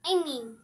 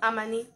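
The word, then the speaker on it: amane: Amani. Amani, good. Ryan and Malaika. It sounds like Amy. Like, it's not like Amy, but it's Amani.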